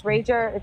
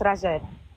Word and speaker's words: Rajay: So in English, it's Rager. Technically, it's Rajay. Ah, okay. Okay. Yeah. That's what I was like. Alice. Yeah, it's Portuguese.